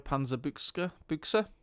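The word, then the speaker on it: Panzerbüchse: Panzerbuchse.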